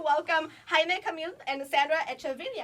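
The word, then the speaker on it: Echeverría: It's Echeverria. Echeverria. Hey! Today. Here in Thank America, you. they say Echeverria, so I'm okay with it.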